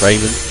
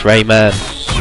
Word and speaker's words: Rayman: It's Raymond. It's like, no, it's Rayman. You know, that's how it's spelled. That's how you say it.